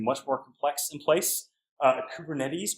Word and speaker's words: Kubernetes: more complex in place kubernetes for Cooper nets as I've heard it mispronounced I think is some